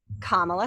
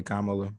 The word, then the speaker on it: Kamala: what's on everybody's mind kamala harris and joe biden right is her name really kamalu it's kamala her mom's name is shyamala